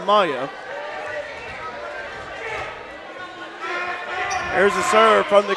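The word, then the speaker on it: Miah: the point for ncoe Maya m-i-a-h but it's pronounced Maya there's a server from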